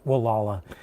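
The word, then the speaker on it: Gualala: one of the towns it's spelled it's spelled like it like Gul but it's Wala uh and I was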